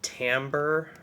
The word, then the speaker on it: timbre: can talk about called Timbre I guess I'll write that down uh t-i-n-b-r-e pronounced Timbre um Timbre is the